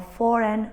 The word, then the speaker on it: foreign: Notice that the silent G often happens before an N.